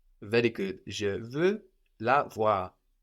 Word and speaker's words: voir: To see in French is voir, voir. Voir. That's spelled V-O-I-R, voir.